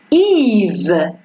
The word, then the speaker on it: Yves: Alors, elle s'écrit ici avec le Y, mais ça prononce I. On ne dit pas IE, mais c'est I. Yves.